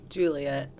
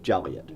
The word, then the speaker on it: Joliet: In Joliet, it's illegal to pronounce Joliet like this. Juliet. Close enough. Joliet.